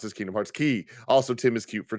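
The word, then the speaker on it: Kingdom Hearts χ: pronounced it is pr it's spelt c-h-i it's pronounced key in k-h because kingdom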